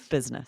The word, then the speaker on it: business: Which makes it more difficult to spell because there's that I that's basically silent. Right. Business.